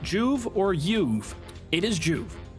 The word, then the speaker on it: Joov: but it is pronounced juve one syllable nice and easy like to be concise